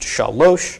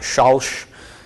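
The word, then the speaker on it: שָׁלוֹשׁ: So this is pronounced shalosh, not shalsh. Okay, if it was shalsh, there would be a shva under here.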